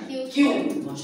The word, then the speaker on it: queue: Cara bacanya Q. Q ya, bukan kuw bukan ya. Q cara bacanya.